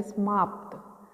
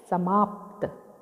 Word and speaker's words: समाप्त: समाप्त, प का उच्चारण कम कर रहे हैं जबकि स का पूरा। यहाँ पर स को आधा किया गया है और प को पूरा कर दिया गया, तो इसे हम उच्चारण करेंगे समाप्त, जबकि शुद्ध शब्द होता है समाप्त।